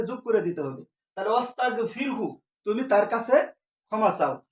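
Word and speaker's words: وَاسْتَغْفِرْهُ: তাহলে এখানে ও আসার কারণে এই আলিফটা উচ্চারণ হচ্ছে না। তাহলে ওস্তাগফির তুমি ক্ষমা চাও। এরপরের শব্দটি হচ্ছে হু। এরপরের শব্দটি হচ্ছে হু। ওস্তাগফিরহু।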